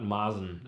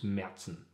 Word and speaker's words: Märzen: a umlaut is and kind of pronounced like the danish a so it's merzen what do you say